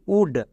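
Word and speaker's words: would: এল এর পরে ডি আছে তার মানে এল silent W ও ইউ এল ডি উড next এখানে এল এর পরে গেম মানে এল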